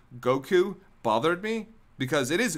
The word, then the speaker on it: Goku: Also, when did I start emphasizing the first syllable in Goku? It's actually a little bit later on. I said Goku a lot because it